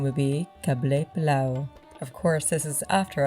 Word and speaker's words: Qabeli Palaw: An Afghan gentleman actually said the correct pronunciation would be Qabeli Palaw.